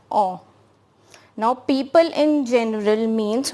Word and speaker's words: on: people in general and its pronunciation is awe now people in general